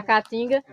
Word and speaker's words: caatinga: mau cheiro é a caatinga é o nome da Mata vem do Tupi Guarani se fosse para a gente pronunciar ela corretamente a gente pronunciaria Caatinga né um pouco mais longo então a caatinga é